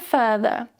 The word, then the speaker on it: further: And the second word is with a more relaxed vowel sound. Further, further.